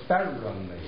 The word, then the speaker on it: Farrelly: Not Farrelly, but Farrelly. Merrily Farrelly.